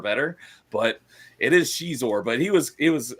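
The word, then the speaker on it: Xizor: antagonist of that was caor and I found out just recently it's actually pronounced Shor which I don't like that pron pronunciation I like cizor better but it is Shor but he was he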